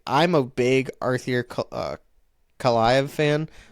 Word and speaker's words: Kaliyev: Kaliyev, or I can't even say his name. I guess I'm not that big of a fan. But Kalaev. I said it right the first time, and then I screwed it up.